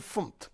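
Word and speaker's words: fmt: Pronuncian FUMT. Es muy raro para un estadounidense igual.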